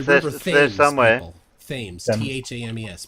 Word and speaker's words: Thames: Thames. Pronounced Thames.